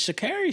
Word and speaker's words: Sha'Carri: Actually, Sha'Carri, man, you gotta say her name correctly.